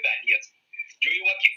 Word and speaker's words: Donetsk: Donetsk se llama, se escribe Donetsk, se lee Donetsk.